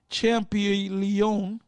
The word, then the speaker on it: Champollion: If you go to 4, picture number 4, it's Jean Francois, I think it's pronounced, Champollion.